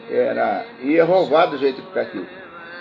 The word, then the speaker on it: Yehová: E com esses sinais vocálicos o nome ficaria Yehová, Yehová, né? Porque o Yod é o Y.